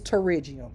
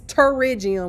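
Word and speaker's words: pterygium: How you pronounce it? It's terriium.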